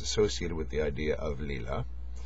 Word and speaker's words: Lila: there's the phenomenon of I think it's pronounced Leela although I've heard it pronounced Lila a lot l i l a where the universe is